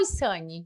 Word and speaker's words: Ysani: E eu falo Isani ou Isane? Isane. Isane. Isane. A pronúncia é correta, segundo a minha cultura.